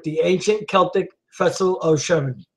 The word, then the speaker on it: Samhain: It is thought to have originated with the ancient Celtic festival of Shemi. How do you say, Josh? Samhain, when people would light bonfires and wear costumes to ward off roaming ghosts.